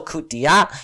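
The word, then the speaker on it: coup d'état: And after their independence in 1960, they were under military rule until coup d'etat, yeah, that's how you say it, which is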